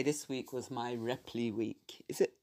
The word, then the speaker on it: Ripl: I did say this week was my Ripley week. Is it? Oh, I keep saying Ripley. It's actually Ripl. Anyway, however it's spelled, it's R-I-P-L.